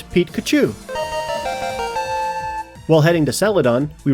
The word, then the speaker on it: Pikachu: It's not Pikachu, it's Pete-Kachu.